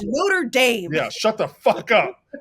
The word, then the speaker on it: Notre Dame: biggest fight about it he was like that's the way they say it and I'm like no that's the cathedral sir it is Notre Dame yeah shut the [